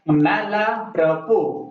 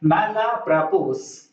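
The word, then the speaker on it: mal à propos: यही इसका सही प्रोनाउंसिएशन है, अंत में एस का प्रोनाउंसिएशन नहीं होता। आप लोग ऐसे बोल सकते हैं मैला प्रपोस।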